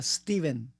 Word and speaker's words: Stephen: stepen Ah Steven bueno tiene pH intermedia pero en realidad se pronuncia Steven y es apellido bor